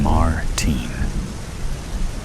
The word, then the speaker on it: Martin: He pronounces Martin in the American way, rather than the way I prefer it. Martine.